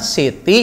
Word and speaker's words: Siti: Itulah mengapa buku-buku menuliskannya sebagai ST dan SD, diucapkan seperti Siti dan Sidi .